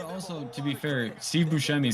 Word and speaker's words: Buscemi: Constantly correct people, and it's actually pronounced Buscemi, but he's like, Buscemi's fine. And this is scooped up by the Lions.